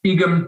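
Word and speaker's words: Eggum: architectural firm snow heater and their project is iguan tourist route i'll just spell it for you e g g u m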